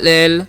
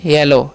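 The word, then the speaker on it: yellow: यहां पर भीज है ओ का उच्चारण ओ हो रहा है लेकिन डब्लू का उच्चारण नहीं हो रहा है ठीक है नेक्स्ट रूल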